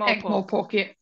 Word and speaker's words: Ankh-Morpork: So city-wise, there's Ankh-Morpork, is that how you say it? Ankh-Morpork, yeah.